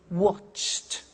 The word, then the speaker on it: watched: Now, when we add the ed, what happens is the pronunciation becomes T. We don't say watched, we eliminate the E and we say watched. Okay?